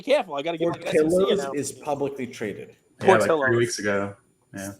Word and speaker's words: Portillo's: Portillo's. Not Portillos.